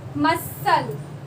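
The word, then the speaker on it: muscle: मसल, climb मतलब कूदना, ठीक है, छलांग लगाना, मसल, यहाँ पे सी साइलेंट है, मसल, सी वर्ड नहीं आ रहा, मसल बोल के देखना।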